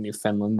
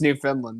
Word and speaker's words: Newfoundland: I am pretty sure it's pronounced Newfoundland. That's the worst part, but everybody won't leave me alone about it.